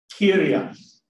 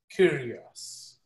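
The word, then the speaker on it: κύριος: Kyrios. Kyrios.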